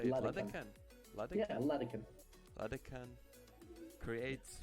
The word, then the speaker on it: Ladehkan: Ladehkan.